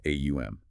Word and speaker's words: Aum: of consciousness with the phonetic sounds of AUM. It's broken into three distinct syllables. Okay. The A sound, starting deep in the throat, represents the waking state. The U sound, rolling forward through the mouth, is the dreaming state.